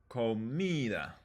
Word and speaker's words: comida: But in comida, it's a little more obvious. It's the second to last.